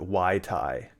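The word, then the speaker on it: wytai: yes i'm going to i'm going to pronounce it wai tai where is i remember seeing that it's not like the drink mai tai it is spelled a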